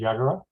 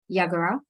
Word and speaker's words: Yagara: I think the common pronunciation is Yagara. Yagara.